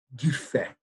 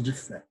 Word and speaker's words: Dufay: Ele sendo francês, então eu acredito que essa pronúncia seja Dufay, Charles Dufay.